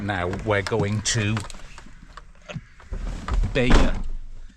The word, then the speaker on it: Bayeux: now we're going to Bea Bea or beo I don't know how it's pronounced one of those bloody Rush Hour we're out we're in Baya I check the pronunciation and that's close enough about a seven or